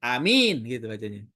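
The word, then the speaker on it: آمين: Nah, di sini bilqasri kedua berarti a-nya pendek. Amin. Mimnya takfif jadi enggak pakai tasdid. Amin gitu bacanya.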